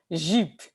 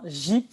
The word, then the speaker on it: Jeep: Si je dis Jeep, généralement, les Haïtiens, pour Jeep, dans ce cas-là, ils vont prononcer plus un D-J-I-P.